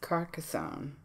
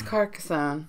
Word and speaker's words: Carcassonne: My number 1 is Carcassonne.